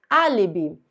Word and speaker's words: álibi: Álibi. Essa palavra é uma proparoxítona, última, penúltima, antepenúltima. Todas as proparoxítonas são acentuadas, então esse A é a sílaba mais forte, trata-se de uma proparoxítona.